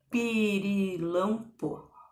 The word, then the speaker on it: pirilampo: Pirilampo. O que parece que é a sílaba tônica? Pirilampo. Pirilampo. Pirilampo. Tô gritando, tô chamando ele. Pirilampo. É o lam, né?